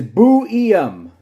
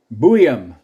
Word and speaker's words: Buium: Susan, it is Buium. Buium. Yeah, I've heard it pronounced a couple different ways. I've heard it as Buium.